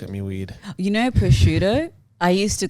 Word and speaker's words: prosciutto: Prosciutto, right? Well, I say bruschetto.